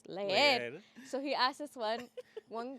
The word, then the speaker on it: leer: And then he's saying leer, right? But the correct way to say it is leer.